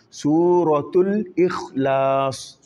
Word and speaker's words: سورة الإخلاص: Toujours le ra, faut pas oublier. Souratul Ikhlas.